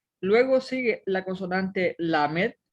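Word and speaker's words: למ״ד: y precisamente inicia con una lamed y una kamatz y forma la sílaba la. Luego está una mem y una segol que forma la sílaba me y una dalet al final que suena como de. Entonces dice la med.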